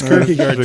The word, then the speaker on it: Kirkegard: So yeah, but it's Kirkegard, just like it sounds.